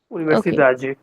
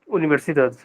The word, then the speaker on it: universidade: We will try to identify the second last syllable, and we have to stretch only the second last one.